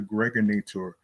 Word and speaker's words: Gregorator: This is your man and homie aka the Gregorator rhymes with now or later your host with the